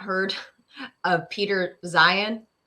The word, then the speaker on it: Zeihan: And it was Joe Rogan talking to a guy called Peter Zeihan, or I think he might pronounce it Zion. Zeihan, something like that. Yeah, at the end he pronounced it like Zion.